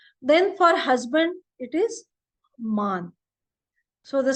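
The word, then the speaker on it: Mann: little bit sent then for husband it is man so the spelling is m a n it is not man just like English but is it is unlike in English it is called as man M A Whenever there comes a it is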